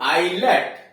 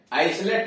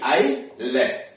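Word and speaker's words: islet: अब यहां देखिए आई एस यल ई टी, तो आईलेट, आइसलेट नहीं, आईलेट।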